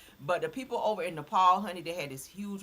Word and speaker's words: Nepal: Nepal, okay, that's how you say it, Nepal.